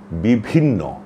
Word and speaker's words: বিভিন্ন: আরেকটি শব্দ হচ্ছে বিভিন্ন। এখানেও প্রথমে আছে অল্পপ্রাণ। তারপরে আছে মহাপ্রাণ। প্রথমে ব তারপরে হচ্ছে ভ। এটা অনুসরণ করেই আমাদের উচ্চারণ করতে হবে। আমরা বলব বিভিন্ন এমন করে উচ্চারণ করব। তাহলে উচ্চারণটি আমাদের শুদ্ধ হয়ে যাবে।